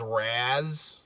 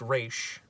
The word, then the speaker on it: Ra's al Ghul: references the fact that they mispronounce Ra's al Ghul as Raz. Which I love when stuff like breaks the because wall. The episode where Talia comes back, she's like, actually, because like Terry pronounces it Raz, and she's like, actually that's a common misconception. It's actually pronounced Raish, which is hit number